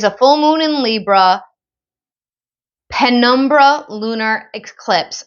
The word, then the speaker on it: penumbra: It is a full moon in Libra penumbra lunar eclipse. Now, I don't know if I said that right. It's Penumbra.